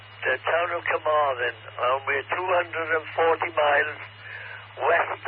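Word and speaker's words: Carmarthen: with C A R M A R T H E N the town of Kamarin and we're 240 miles west of London Q.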